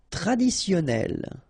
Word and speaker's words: traditionnel: Traditionnel. Okay, so you get double N here.